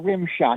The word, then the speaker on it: Rimshodt: your name again uh rimshot it's it's spelled r i m s h o DT okay that's uh because it was like Rim shot like a like a rim shot on a drum set but that's a